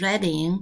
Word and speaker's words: Reading: ballad of writing jail reading the pronunciation is readying remember this and it's a city